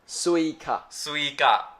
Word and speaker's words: Suica: Suica. Okay, there we go. Just You're ignore saying it. like Suica, like SW. Oh, Suica. It's Suica.